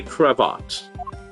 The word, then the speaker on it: cravat: If that were to happen, Francisca, I'll eat my cravat. How do you pronounce that word?